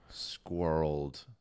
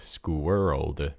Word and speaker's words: squirreled: like motion and so it's one syllable squirreled world i feel like it would be two though well you can definitely break it down like school world but that's not how it's just squirreled and it's like that's